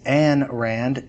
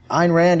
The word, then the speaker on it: Ayn Rand: many people mispronounce as an Rand it's it's not pronounced an it's pronounced a and rhymes with mine it's easy way to remember it uh Ein Rand is important for a